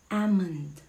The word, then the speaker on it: almond: Paano i-pronounce yan? It's almond.